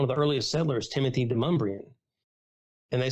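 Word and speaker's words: Demonbreun: Well, I call it DeMumbrian. It's downtown. It's one of the roads no one knows how to pronounce, but it's because of a settler, Timothy DeMumbrian. He's a fur trader. Yeah, it's everybody likes to, people out of town call it Demon Bruin, because that's kind of how it's spelled.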